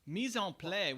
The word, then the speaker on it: mise en place: Mise en place would be how you pronounce it. Mise en place, but okay, everything in its place.